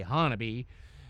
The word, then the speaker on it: Honobia: It was the Humphre and they were outside of this town called Hannabe. It it's spelled Honobia but they say Hannon.